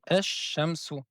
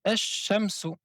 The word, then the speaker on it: الشمس: Donc le alif et le lam derrière la lettre shin, on ne prononce pas le lam, mais on prononce deux fois la lettre shin. On dit ash shamsu.